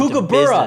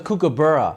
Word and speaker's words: kookaburra: Yeah, and we get down to Kookaburra. business. No, it's Kookaburra.